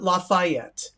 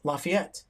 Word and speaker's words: Lafayette: However, she called it Lafayette, which is how other people pronounce it all around the country because of Louisiana. But for us, it's Lafayette. That's how we say it.